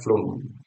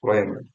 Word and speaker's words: phloem: Bacanya flum. Tapi ada yang beberapa yang bacanya phloem, phloem, gitu. Phloem, phloem.